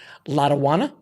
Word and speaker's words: Latawana: Now, if I pronounce it correctly, Latawana. Oh, you nailed it.